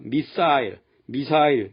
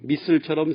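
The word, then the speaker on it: missile: 북한의 미사일 발사, 우리는 미사일이라고 하는데 영어로는 미슬이라고 말합니다. 북한이 한 방 쏠 때마다 미사일, 미슬처럼 세 가지 다른 반응을 듣게 됩니다.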